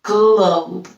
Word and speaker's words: globe: Gl is our sound. Our silent E makes the O say his name. So globe becomes globe.